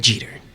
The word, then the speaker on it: Jeter: Jeter, like Gene Jeter.